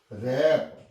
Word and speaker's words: wrap: रैप, WRAP, रैप।